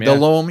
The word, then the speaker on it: Delhomme: And they had a Delhomme, is that his name? That the quarterback might have been at that time. Delom. Yeah. Because I had asked you how to pronounce that was the other thing.